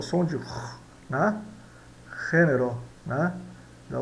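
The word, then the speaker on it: género: Então a gente diz, se escreve gênero, né? Mas nós pronunciamos gênero, gênero, né? Significa gênero.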